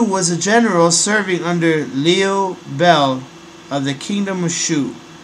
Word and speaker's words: Liu Bei: a general serving under Leo Bell of the kingdom of Shu Leo Bell is spelled Liu Bei new bank may be